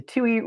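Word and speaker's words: Touhy: in this case uh through the Tue process in federal court which is spelled tou Y and this is Tu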